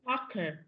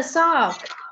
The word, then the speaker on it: soccer: No, không phải là sock, mà phải đọc cái từ khờ luôn. Soccer. I like soccer. Cờ. Âm cờ chứ không phải là chữ K.